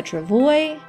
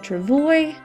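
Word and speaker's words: travois: called a Travoy a Travoy you don't pronounce the S it's a French word there a Travoy or at least a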